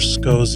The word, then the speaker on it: Schou: I've realized we've pronounced Dr. Schou's name incorrectly on this podcast at times.